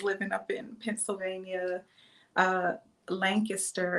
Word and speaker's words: Lancaster: up in pennsylvania uh lancaster is what the locals call it if you're not from lancaster you call it lancaster because that's how it is spelled so um i did